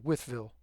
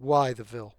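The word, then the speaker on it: Wytheville: and uh and uh Withville and that is how that is pronounced withville. It is not why the although I have to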